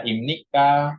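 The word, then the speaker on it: 입니까: p kenapa dibacanya m karena di dalam bahasa Korea sama dalam kayak bahasa Arab jika huruf bif bertemu dengan Nin maka dibacanya m tuh Ini huruf BB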